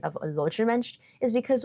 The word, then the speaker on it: Łódź: Łódźer mensch is because Łódź is pronounced Łódź, and not Łódź, because it's not spelled Łódź, because the Polish o is not the English L, it's pronounced more like the English W.